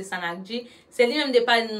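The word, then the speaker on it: sannakji: Li écrit S A N trait d'union N-A-K-J-I, je crois. M'kwè ça. Kon sa l'écrit, mais li prononce Sanagi.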